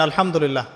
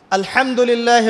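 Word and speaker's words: الحمد لله: আপনি পড়ছেন আল্লাহু আকবার আলহামদুলিল্লাহি রাব্বিল আলামিন এইতো আপনি পড়ছেন আলহামদুলিল্লাহ শব্দটা কি আলহামদুলিল্লাহ হা এর মাখরাজ কোথায় হা এর মাখরাজ কোথায় বলেন একজন কণ্ঠনালীর মাঝখান থেকে এখান থেকে আপনি উচ্চারণ করছেন আলহামদুলিল্লাহি রাব্বিল আলামিন অর্থ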